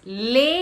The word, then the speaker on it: lei: Next is lei and lay.